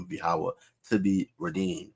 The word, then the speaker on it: Yahawah: The Most High God's name is not Yahuwah, it's not Yahweh, it's not Jehovah, like the simpleton that came into the live earlier, right? It's Yahawah.